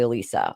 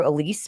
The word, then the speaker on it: Elisa: It is technically Elisa. I prefer Elise because nobody really knows how to say it right. So I actually prefer it to be Elise because it's much easier for people to remember.